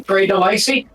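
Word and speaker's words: Grey DeLisle: It only took me, 30-something years of being alive to finally pronounce it properly, Gray Delisle.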